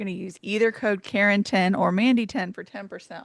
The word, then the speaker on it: Karen: the other day, but when you say Karen, you say Karen. You don't say Karen. So therefore, my name is spelled correctly and everybody else is wrong.